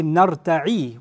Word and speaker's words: نَرْتَعِ: But if you say نَرْتَعِ with a kasra, two things change. The ya is pronounced a noon now, and the end has a kasra.